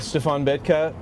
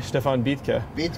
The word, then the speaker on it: Stefan Betke: of Asphodel Studios with Stefan Betke. Sorry, Stefan Betke. Betke. I don't want to mispronounce it.